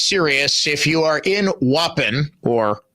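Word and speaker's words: Waupun: If you are in Wapen or Wapon, which is the proper pronunciation, please do seek shelter.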